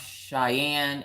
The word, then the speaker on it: Cheyenne: It's pronounced Cheyenne and Laramie.